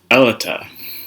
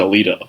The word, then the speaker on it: Aletia: Her real name, Aletia. Aletia. Sounds too close to Alita, Alita Battle Angel, but pronounced differently and of course spelled differently.